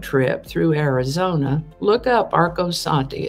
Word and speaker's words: Arcosanti: events for june 21st because i've been to erkosanti interesting project if you're ever on a road trip through arizona look up arcosanti it's spelled a-r-c-o-s-a-n-t-i i think we found it